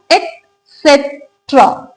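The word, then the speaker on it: etc.: एसेट्रा right next time जब भी आप इसको प्रोनाउंस करें तो इसको पढ़िएगा एसेट्रा ई टी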